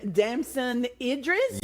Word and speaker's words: Damson Idris: And Damson Idris, did I say it right?